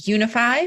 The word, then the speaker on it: Younify: I'm the CEO of Unify, which is spelled funny. It's YOUNIFY.